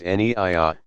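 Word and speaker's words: niyyah: Naya, pronounced Niya, saying I intend to pray the dawn, for example, salat.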